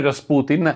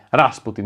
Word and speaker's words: Rasputin: la figura di Grigori Rasputin, la sua pronuncia in russo, ma io lo chiamerò Rasputin durante tutto il video perché ormai è rimasto famoso così dalla canzone dei Boney M degli anni '80, esercita un fascino intramontabile